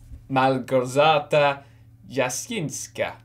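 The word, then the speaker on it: Małgorzata Jasińska: Malgorzata Jasińska.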